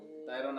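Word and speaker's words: طَيْرًا: র দুই জবর রন কি হলো উচ্চারণ তয়রন তয়রন তয়রন আবাবিল তয়রন আবাবিল আকাই কো বলে কি তয়রন না তয়রন কয় না কেউ কয় যেমন চাচা বললো যে তায়রন কেউ বলে তয়রন না আর কাউ কয়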